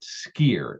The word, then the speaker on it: skyr: They call it skyr, Skyr. Skyr is how it's pronounced.